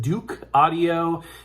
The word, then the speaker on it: Douk Audio: It's from a company which I believe is pronounced Douk Audio.